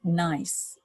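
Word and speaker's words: gneiss: have a metamorphic rock nice and that spelled G and EISs the G is silent so grant it on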